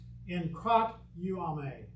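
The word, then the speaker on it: ἐγκρατεύομαι: There's our word, but this is a verb, and it's pronounced in krat uame.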